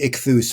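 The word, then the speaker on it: Ichthys: In English, ichthus.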